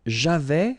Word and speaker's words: j'avais: J'avais, final S not pronounced.